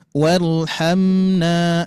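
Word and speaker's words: وَارْحَمْنَا: Warhamna berapa harokat Pak Bu? 2 harokat dibacanya. Warhamna.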